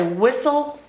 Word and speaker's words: whistle: I need to say whistle yes okay so we can't pronounce the T in whistle but we can pronounce